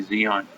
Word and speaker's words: Zion: I hear the announcer say Zion. It's Zion. I heard the announcer. Every single game I watch, I never heard the announcer say Zion. It's Zion, stupid.